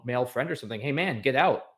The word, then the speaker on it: mangetout: And that it's actually a kind of pea pod, I would probably pronounce it uh mangetout?